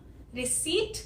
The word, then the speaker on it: receipt: रिसीट में ये प साउंड नहीं आती, ये प साइलेंट लेटर है, इसकी कोई साउंड नहीं है, जैसे हमने पिछले लेक्चर में साइलेंट लेटर्स का कॉन्सेप्ट समझा था। तो रिसीट अगर लिखना हो, लिखोगे आप ऐसे ही RECEIPT, लेकिन बोलोगे रिसीट। एक और वर्ड लेते हैं।